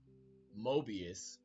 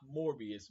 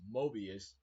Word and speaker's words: Mobius: the time keeper twist Mobius hopefully I'm saying it right not morbius Mobius this was a great